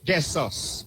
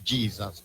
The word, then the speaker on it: Jesus: Jessus beg you pardon. Let her pronounce our English narrative as it is Jess. But we all say Jesus but is Jessus.